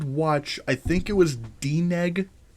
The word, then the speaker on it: DNEG: Yep, it was DNEG. It's literally how and the way you spell it is exactly how that's how it sounds.